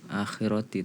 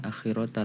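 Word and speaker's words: الآخرة: ayat-ayat yang sama yaitu diantaranya facho nakal akhiroti tapi dibacanya akhirota rata-rata disitu karena memang di ayat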